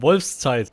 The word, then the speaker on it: Wolfszeit: That was very close, Henrik, but it's actually called Wolfszeit. And that is because the German Z is pronounced pretty differently.